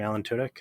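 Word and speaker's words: Alan Tudyk: and you know uh alan what's his name alan tudek is that how you say it yes [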